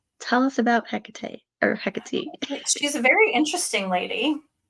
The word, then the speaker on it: Hecate: from what I understand, it's Hecate, and that's how the Greeks pronounced it, and that's where she's from. Okay. So tell us about Hecate or Hecate.